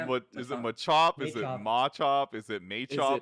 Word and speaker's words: Machop: chris and i like realizing that we're saying machop like differently yeah like they're like is it what is it is it machop is it mate like is it ponyta ponita